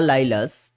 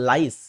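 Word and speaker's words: Lyles: অলিম্পিকে নোয়া লাই নোয়া লাইলাস বা নোয়া এনার নামটা হচ্ছে নোয়া লাইস উচ্চারণ হয় কিন্তু এখানে লেখা নোয়া লাইলাস যাই হোক তো নোয়া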